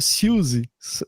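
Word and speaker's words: Siouxsie: Só que acho que é meio que Suzy, sabe? A pronúncia é meio que quase que Suzy, sabe? Eu vi uma entrevista dela e ela fala, hi, this is Suzy. Ela fala Suzy, uma coisa assim.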